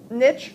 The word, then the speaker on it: niche: pronounce it that's fine niche rhymes with snitch i'll read it and